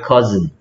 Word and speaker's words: cousin: This is my cousin. cousin. Cousin. This is my cousin. This is my cousin. 뭐라고요? This is my cousin. 그렇죠. cousin 이렇게 쓰고요. 얘 발음은 cousin이 된 거야. I가 소리가 안 났어.